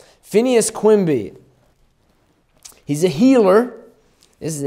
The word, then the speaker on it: Phineas Quimby: his name Phineas Quimby Phineas Quimby pretty much spelled like it sounds Phineas Quimby he's a healer is